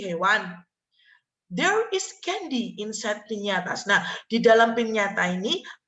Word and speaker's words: piñatas: Piñatas ini ya, bacanya piñatas.